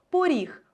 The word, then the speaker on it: поріг: склад з буквою у так само у слові поріг ми то знаємо що Це слово пишеться з буквою о але якщо будемо писати транскрипцію ми побачимо що О наближається до у почуйте як і вимовляються слово поріг поріг звук о наближається до звука у що ми і позначимо